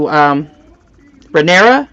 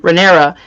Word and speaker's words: Rhaenyra: and Damien comes up to Rhaenyra, am I saying her name correctly? Mm-hmm. Rhaenyra, and he's like, you know, your father wants you to be strong.